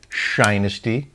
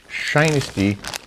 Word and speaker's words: Shinesty: else is really cool what shinesty sounds like Dynasty I didn't know how you said it and they told me it's pronounced shinesty stay weird and shine